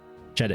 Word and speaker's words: dziadek: Jadek, yes, it's DZIADEK. Jadek. Yeah. I can close enough. Like I can pronounce a fair chunk.